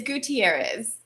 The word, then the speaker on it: Gutierrez: because i don't want to butcher it it's gutierrez gutierrez okay i probably would not have pronounced it that way so i'm glad thankful